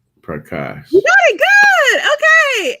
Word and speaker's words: Prakash: Prakash.